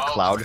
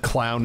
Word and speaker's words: Cloud: you say it's a cloud Fiesta I would never say that there's actually one point really early in OverWatch casting where I accidentally said clown instead of cloud for C9 and I felt terrible